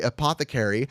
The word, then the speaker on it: Apothecary: wonderful company uh Apothecary Apothecary is pronounced by the way Apothecary and it is your